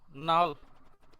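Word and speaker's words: null: your উচ্চারণ উল এজন্য আর কি আমরা নাল না বলে নূল বলি ন তারপরে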